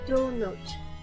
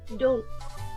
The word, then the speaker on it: don't: So, um, so the way you pronounce it is it would normally be do not Donote. Donote. Um, sounds like donut, but since the O is missing, it's just don't.